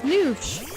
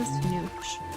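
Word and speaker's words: Nush: The way you pronounce my name, Nat, is Noosh. As if it had 2 O's. Yeah. Nice and easy. Even though it's spelled N-U-S-H, it means Noosh. Yeah, it's pronounced Noosh. Don't pronounce it like mush.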